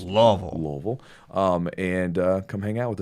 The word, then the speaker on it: Louisville: That's the way we pronounce it here. It's not Louisville. It's Louisville.